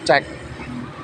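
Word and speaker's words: check: C H E C dibaca cek.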